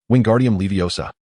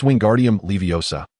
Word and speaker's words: Wingardium Leviosa: Wingardium Leviosa, Ron shouted. You've made a mistake, Hermione began to correct him. It's Wingardium Leviosa. The gar must be pronounced clearly and distinctly.